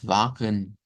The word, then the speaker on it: Wagen: pero pueden ver que en la pronunciación estándar nos dicen algo como wagen, wagen, wagen, wagen, pero nótese que aquí hay una shba también.